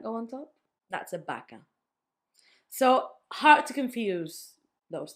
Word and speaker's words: vaca: So they will always, by default, make a B sound. You can say it in these 3 words. I can say barco, barco with a B. Vaca, you see that I make a vaca.